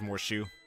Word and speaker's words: Morshu: name don't worry i think it's more shoe more shoe okay uh let's see